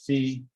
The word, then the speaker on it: phi: but then you'll hear other people in physics call it fee so it's i think